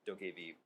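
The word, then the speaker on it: Dokev: to 2 000 bitrate it's spelled d-o-k-e-v pronounced dokey v yeah it's like it's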